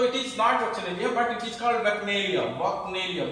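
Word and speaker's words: bacchanalia: नाउ the first word you have to study, that is वैक्नेलिया.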